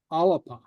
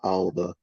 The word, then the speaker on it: Alba: Okay, avelu alapa. Canil mi a alba. Okay. Alba. Alapa, okay. Okay, I note that the B is pronounced like a P.